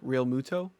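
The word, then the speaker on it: Realmuto: and JT Ruto how you say his name real Muto R Ruto okay why why aren't the Phillies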